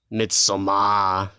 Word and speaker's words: Midsommar: So let's start with Midsommar, right? That's how you pronounce it.